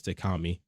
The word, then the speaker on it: Takami: Takami, and yes, that's also how you pronounce it, is Takami, is not Takami or any other way people have probably been pronouncing it, because I've noticed people have been pronouncing it, and it makes me cringe when I hear them pronounce it wrong. I'm like, it's just Takami.